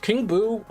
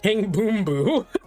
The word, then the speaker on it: King Boo: King Buu. Um, I should say his name properly. King Boom Boo.